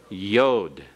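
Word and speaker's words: יוד: And then the 10th letter is Yod, the smallest letter of the Hebrew alphabet, with a Y sound as in the beginning of yes.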